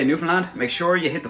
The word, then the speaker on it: Newfoundland: As I said, the faster you say this word, the better it sounds. If you can hear all the letters that you're pronunciating when you're saying it, you're not saying it fast enough, bye.